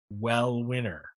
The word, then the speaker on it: Uel Winner: uh his name is well winner spelled u-e-l-w-i-n-n-e-r but he sent us actually an mp4 on how to pronounce his name so it's like well winner okay here we go